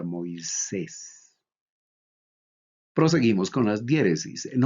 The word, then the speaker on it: Moisés: Se pronuncia Moisés. Algunos lo pronuncian como Moisís. ¿Cuál es la pronunciación correcta? Los que tienen la influencia del griego moderno tienen la tendencia entonces a pronunciar la ita como una iota. Pero quienes siguen la pronunciación sugerida por Erasmo de Rotterdam, la ita la pronuncian como e. Entonces sería Moisés.